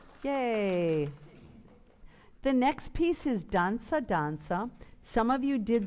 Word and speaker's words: danza: Everyone say danza. And it's important in Italian and anything, sing the vowels.